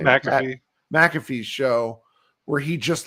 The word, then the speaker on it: McAfee: McAfee.